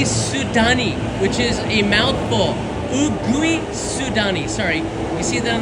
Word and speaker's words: Uguisudani: So, we're going to be leaving from Ueno station, Ueno, and going to Usui Sudani, which is a mouthful, Ugui Sudani.